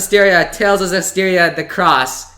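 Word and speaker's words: Zestiria the X: Okay, so speaking of Tales of Zestiria the Cross, as it is pronounced. Yep. Written with an X.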